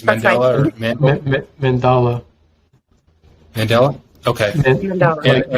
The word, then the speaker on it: mandala: I think it's That's Mandela or Mandala. Mandela? Okay. Mandala. Like you're saying man, and then Dala.